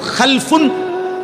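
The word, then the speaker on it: خَلَفٌ: একটা হলো খালফুন আর একটা হলো খালাফুন। একই শব্দ, শুধু উচ্চারণের মধ্যে একটু ভিন্নতা। মাঝখানে একটা লাম আছে, এই লামটার মধ্যে যদি সাকিন হয় তাইলে হলো খালফুন, আর যদি লামের মধ্যে জবর হয় তাহলে হলো খালাফুন।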